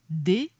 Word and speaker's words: deus: a dérapé jusqu à deous latin prononcé dous et c'est ainsi que